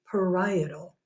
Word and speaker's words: parietal: is the parietal pericardium that word is parietal although you might spell it right if you call it